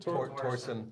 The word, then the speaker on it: Torsen: How do you pronounce it? Torsen.